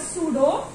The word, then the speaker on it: pseudo: Now pseudo, the word pseudo, P-S-E-U-D-O, pseudocoelom. P is silent.